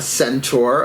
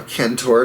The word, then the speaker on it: centaur: a Jupiter ruled Archer usually a centaur a Cantor depending on which pronunciation you prefer so think of a